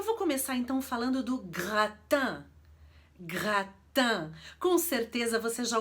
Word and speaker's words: gratin: Brasil e eu vou começar então falando do rattan rattan Com certeza você já ouviu falar nesse